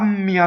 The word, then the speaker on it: mia: Povertà mia lieta. Just a slight double M. Mia, all the possessive pronouns, have the accent on the first vowel.